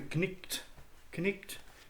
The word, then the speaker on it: knight: The first is the knight, pronounced the knicht in Middle English.